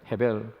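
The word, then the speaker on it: הֶבֶל: 아벨의 원래 히브리어 발음 뜻은 헤벨입니다. 헤벨. 이 헤벨은 무슨 뜻이냐 하면 헛되다 하는 뜻입니다.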